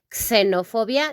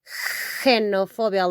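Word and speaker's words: xenofobia: We don't say xenophobia. No, it's xenophobia, like if it were a J, okay?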